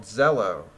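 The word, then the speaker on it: Zello: download an app called Zelo that's spelled with a Z e ll o kind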